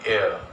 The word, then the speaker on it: heir: The pronunciation is not heir but heir. H is silent.